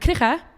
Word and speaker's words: Krige: to remind everyone that Krige, which is the person that Krieging was named after, you have to add the Dutch G to the pronunciation.